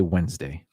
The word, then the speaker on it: Wednesday: know i know wednesday i usually don't say the d wed's name wednesday skip the d just say wednesday it's like uh february